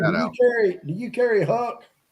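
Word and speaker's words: Huk: It's pronounced Huck.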